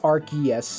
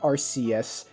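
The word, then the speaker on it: Arceus: about arus Legends Legends archus and yes it's pronounced arus not RCS mother when you ask them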